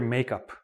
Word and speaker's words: makeup: We all know the word makeup. What does makeup mean? Notice I say it quickly together.